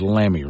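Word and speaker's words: Lammy: I love his name is lamby rhymes with whammy set out his vision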